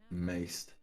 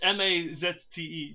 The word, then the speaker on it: Mazte: Maced. Yeah, maced, or is it matze? Matze. Who knows? I don't know how it's pronounced in the game. It's Mazte, so have fun with that.